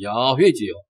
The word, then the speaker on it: 야훼: 여호와, 또 정확하게 말한다면은 야훼지요. 야훼는 나의 목자. 그런 그 찬송이 기억나는데 여호와가 히브리어 그 발음 그대로 한다면 야훼입니다. 야훼.